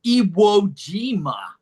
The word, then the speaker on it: Iwo Jima: Zoom user: There is a pla… there's an island in Japan called Iojima, do you know? 中桐佑輔(Nakagiri Yusuke): Yes, Iojima. Zoom user: Do you know how Americans pronounce it? We say Iwo Jima.